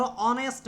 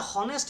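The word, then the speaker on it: honest: যেমন ধর যেমন ধর যেমন ধর অনেস্ট ম্যান। এটাকে আমরা হনেস্ট বলি। এইচ ও এন ই এসটি। এটার উচ্চারণটা কি?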